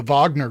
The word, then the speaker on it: Wagner: Yevgeny Progozhin, who is the head of the Wagner Group. I call it the Wagner Group because that's the German pronunciation.